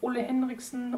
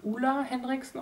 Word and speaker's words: Ole Henriksen: but not least von Ole Henriksen oder ich glaube er wird Ula Henriksen ausgesprochen das truth Serum Collagen Booster